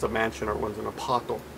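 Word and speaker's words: アパート: Watashi wa apato ni sundeimasu. Notice that the pronunciation of apartment becomes apato.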